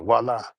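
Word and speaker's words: voilà: The H is silent. Okay. It's like voila. Like voila.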